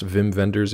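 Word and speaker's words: Wim Wenders: know too many wiim Wenders uh is it pronounced Vim venders even know if it's it's spelled ww um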